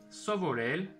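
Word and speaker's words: սովորել: Hayeren Sovorel.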